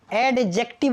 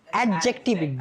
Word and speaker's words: adjective: एडजेक्टिव नहीं, एडजेक्टिव। D silent रहता है। कौन साइलेंट रहता है? डी।